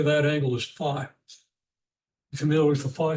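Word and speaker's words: phi: And unfortunately some people pronounce this fee which offends me but it's common.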